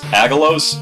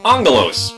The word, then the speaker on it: Aggelos: don't understand me either all I'm very likely gonna end up pronouncing this game's name is a gallows apparently some general translation issue involving a quirk of the Greek alphabet it's actually supposed to be pronounced Angelo's I'll probably just randomly